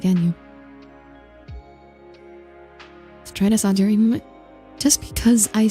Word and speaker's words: Audire: Audire, yes. Hello, Misia. The rocket. Yes, Audire. That is how you pronounce it.